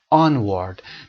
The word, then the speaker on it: onward: Onward. دقت کنید تلفظش رو دوستان بخونن این رو onward که اشتباه هست. Onward stress روی on هست.